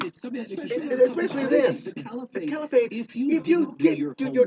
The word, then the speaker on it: Caliphate: I think I heard one guy actually say Califate at one point.